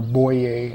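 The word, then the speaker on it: Boii: However, it's very detrimental in my Boy campaign, or Boye as they pronounce it.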